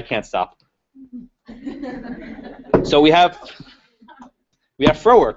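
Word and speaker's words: Frohwerk: Another case decided, I think, a week later was Froerk, F-R-O-H-W-E-R-K, rhymes with twerk.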